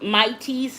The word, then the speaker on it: Maitys: And it's spelled MAITYS, and that's a store on Amazon.